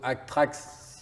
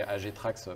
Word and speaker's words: AGTRACKS: Bah, ça serait plutôt ACTRAX si on le prononce à l'anglaise, mais AGTRAX, ça correspond, ça va aussi.